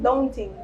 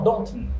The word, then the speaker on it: Daunton: Daunting. No, Daunton.